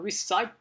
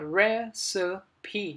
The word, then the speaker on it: recipe: Cái này là cái từ mà nó sẽ, thường có thể các bạn sẽ là recipe, cái gì đấy, nhưng mà không phải. Cái này nó sẽ có 3 âm tiết và chúng ta sẽ đọc là recipe. Trong đó thì cái trọng âm sẽ dự âm đầu tiên, recipe, công thức nấu ăn.